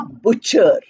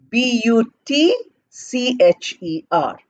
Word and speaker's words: butcher: word number three a butcher b u t c h e r we are not saying buter or but Cher we pronouncing it as butcher Butcher what does a